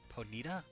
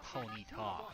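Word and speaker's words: Ponyta: Ponita. That is not That is a ponyita. Sir, a ponita. Not a ponita.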